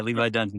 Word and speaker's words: Levi Dunsey: Yeah, Levi Dunsey, spot on.